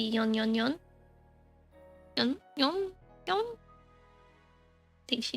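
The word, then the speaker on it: 四四四: I guess maybe a more correct pronunciation would be yon yon yon.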